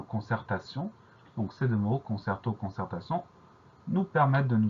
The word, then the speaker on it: concert: On va surtout faire attention au son E qui s'écrit E, et à cette lettre muette à la fin, le T.